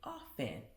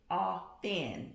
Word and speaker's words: often: So, oftentimes, actually, often, someone corrected me on that one the other day. Often is how you say it. So the T is silent.